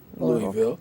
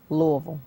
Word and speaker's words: Louisville: Now you're from Kentucky, Louisville. Yeah. And No, excuse me. Louisville. Louisville. There's so many ways that you can pronounce it.